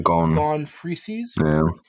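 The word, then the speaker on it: Gon Freecss: which the character the name is gone G gone frees gone right in proper um proper way to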